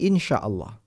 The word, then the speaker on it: إن شاء الله: ini dalam bahasa Arab Kita mengucapkannya dengan ee bunyi Insyaallah Lalu ada apa sehingga